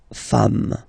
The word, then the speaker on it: femmes: Femme, you write it like it was at the singular form, and then you just add this S at the end, and as we said, you don't pronounce it, so you get des femmes, okay?